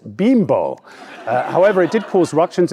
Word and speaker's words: Bimbo: correct their bakery sponsor bimbo actually pronounced bimbo however it did cause